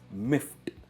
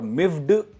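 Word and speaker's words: miffed: भी होगा, जो है मिफ्ट। मिफ्ट। अभी यहां पे आपको प्रोनाउंसिएशन पे ध्यान देना है। ये है मिफ्ट और मिफ्ड नहीं है। टी आता है एंड में, मिफ्ट सॉफ्ट टी आता है, मिफ्ट।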